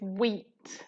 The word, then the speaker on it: wheat: make bread okay and again is the H here which is the silent word so this would be what eat weeds okay with the WH making a diagraph so it's the H that is silent here okay guys yes you